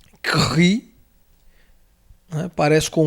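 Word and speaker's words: Χ: Tá aí, ele é transliterado como se fosse um KS, ou um KR, Cri, um KH, alguma coisa puxado para isso aí.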